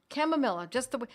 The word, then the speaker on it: chamomilla: Chamomilla, my friends, remember these are Latin words. So if you look up chamomilla and you put in K-A-M, and you phonetically try to figure out the rest, it will correct, right? We live in a world where corrections are made for us, and it will come out with C-H-A-M, chamomilla.